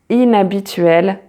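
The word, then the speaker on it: inhabituel: for example ahiko and it is also silent when it comes in between a word so like for example inabitrel inabituel or bonner bonner so now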